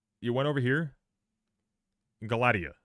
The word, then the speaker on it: Galatea: So, let's start with the Greek pronounced in Greek. Galatea. Galatea.